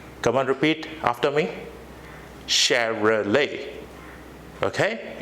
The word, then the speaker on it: Chevrolet: satellite is not the correct pronunciation the correct pronunciation is Cheryl a Chevrolet come on repeat after me Chevrolet okay it's Chevrolet it's the name of an automobile the next